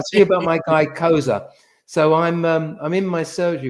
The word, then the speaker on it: Xhosa: I got XHOSA, not KOSA. I said, that's like the tribe. It's actually pronounced Koza. It's a click language.